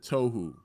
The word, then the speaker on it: Toho: I'm willing to bet most people who see the word Toho for the first time, chances are they're not going to pronounce it Tohu.